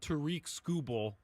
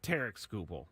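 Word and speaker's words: Tarik Skubal: wrong this entire time it's not Tariq scoble it's t scoble so I feel pretty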